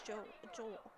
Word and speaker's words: Joel: It's not Angel. It's Joel.